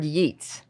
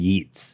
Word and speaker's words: yeet: spell it please y-e-e-t-s there's no s it's not a yeetz oh I have a